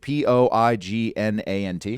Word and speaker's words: poignant: it spell it poignant p-o-i-g-n-a-n-t something like that it's got a really shitty i n g in the middle of the word but if you say poignant an academic will throw their hot coffee on